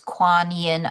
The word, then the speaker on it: Kuan Yin: So that's spelled K U A N Y I N. It's Quan Yin Apothecary.